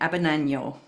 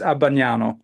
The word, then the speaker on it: Abbagnano: It was just on the wrong syllable. So, Oh, but it was remarkable actually, considering how difficult a name it is to pronounce. It's Abbagnano, but Abagnano.